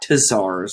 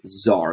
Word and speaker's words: czar: king or emperor okay czar um it's not tazars it's zar the t is silent okay this also can be spelled with